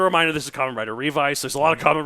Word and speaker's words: Revice: All right, so now the other thing that they do once it's spelled like revise, right, or revice with a it's C.